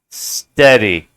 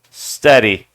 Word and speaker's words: steady: look at that steady steady see the EA in this case it's just like ready already steady this right here this part